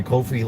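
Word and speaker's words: Ko-fi: channel, click on my Kofi link, or coffee, or however it's pronounced. I see people here on YouTube having different pronunciations for it. To me it's coffee, I guess.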